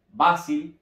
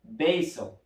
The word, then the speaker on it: basil: Albahaca en inglés se escribe de la siguiente manera, pero no se pronuncia basil, se pronuncia basil.